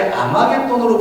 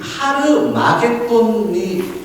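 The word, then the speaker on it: Ἁρμαγεδών: 영어도 음력을 했고, 영어에서 그냥 히읗자 있죠. 거기 앞에 어포스트로피 같은 그런 게 찍혀 있어요. 그 점이. 그게 히읗자를 만들어요. 그래서 하르마겟돈이라고 읽어야 돼요. 근데 이것을 아마겟돈이라고 번역을 했고, 영어가 그렇게 아마겟돈으로 번역을 하니까 한글도 아마겟돈이 된 거지만 사실은 하르마겟돈이라고 음력해야 됩니다.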